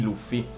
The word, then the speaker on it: Luffy: nei nostri cinema italiani, abbiamo sentito il nome di Cappello di Paglia come dovrebbe essere pronunciato e nella maniera corretta, ovvero Monkey D. Luffy o Luffy. Quindi Luffy è ciò che ha pensato l'autore.